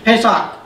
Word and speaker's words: Pesach: Pesach.